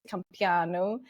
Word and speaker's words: Campeanu: pronounced it correctly but the last name is pronounced companu and it's Romanian um and you're so